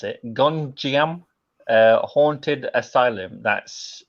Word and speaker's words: Gonjiam: Yeah, it's called I can't even pronounce it. Gonjiam Haunted Asylum. That's Gonjiam.